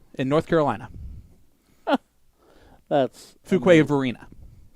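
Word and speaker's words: Fuquay-Varina: on Alex Spellman from a City I can't pronounce in North Carolina that's Fuquay Varina Fuquay Varina yep perfect and every time I'm I'm wrong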